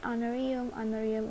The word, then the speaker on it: honorarium: Cuma kalau misalnya di sini honorarium ini walaupun H tapi pembacanya adalah honor.